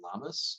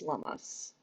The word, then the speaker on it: Lammas: Lunaza is the modern day, or is paralleled by modern day Lammas, I believe is how it's pronounced.